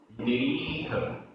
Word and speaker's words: निरीह: ओवसम ओवसम निरीह निरीह। णा में छोटी की मात्रा है और रा में बड़ी ई।